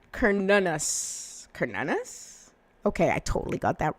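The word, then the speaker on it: Cernunnos: Cernunos. Oh, no, sorry, it's pronounced Cernunus. Cernunus?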